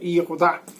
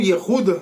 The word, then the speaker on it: Yehudá: Sejam bem-vindos a mais um Shiur comigo, Yehudá. Ou Yehuda, se preferir, na pronúncia mais moderna do Ivrit.